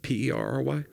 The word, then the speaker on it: Perry: fire shows South Georgia people I'm coming to Perry which I didn't know where it was but it's uh somewhere South can you spell that p e r r y okay like the band per was like Paris